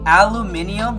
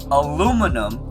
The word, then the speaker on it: aluminum: literary debate about it aluminium was only created to fit into the actual book and its phonetics but aluminum was the original way to say it and the correct